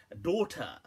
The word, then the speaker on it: daughter: saying, here's a word, daughter. Now it's interesting how obviously in English that we write the GH, obviously don't pronounce it unless you doctor, unless you want to.